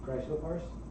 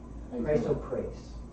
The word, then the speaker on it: chrysoprase: The first gemstone that you have is a chrysopars. A what? Chrysopars? Chrysoprase. Sorry, chrysoprase. It's a translucent green gem.